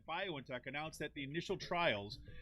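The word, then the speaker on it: BioNTech: and its german partner violin tech i guess is how you say it bio in tech announced at the initial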